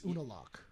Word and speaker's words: Unalaq: It's Unalaq.